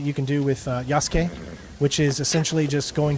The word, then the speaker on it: Yasuke: are most impressive so you pronounce his name Yas not yasuke I always did the I always put the U in there but this is the